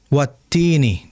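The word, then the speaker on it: والتين: tersebut huruf wau, maka coba agar langsung dimonyongkan wattini. Jangan ketika mau baca fanya e fathahnya baru monyong. Misalkan wattini jangan langsung monyong saja wat. Nah, makanya ketika ke wa itu tinggal ditarik ke netralkan e bibirnya wat ya. Jadi posisi bibir sudah monyong watti nih seperti itu bukan posisi netral.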